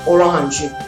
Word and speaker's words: orange: green okay for orange the spelling is similar but the pronunciation is different okay so we call it orahanji okay orange gold oh